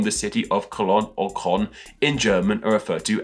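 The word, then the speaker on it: Köln: German city of Cologne in German this city is called colon once again apologies about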